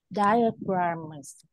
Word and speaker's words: diagrams: Diagrams. Rồi, đúng rồi, đọc nữa đi, đọc lần nữa đi. Diagrams. Rồi, lưu ý ha, chỗ đó đọc là die không đi nha.